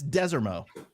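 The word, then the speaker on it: Desormeaux: How do you pronounce his last name? I know. So it's Desermo.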